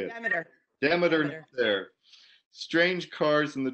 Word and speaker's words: Demeter: Imagine Persephone coming up from hell and I can't pronounce that word. How do you say it? Demeter.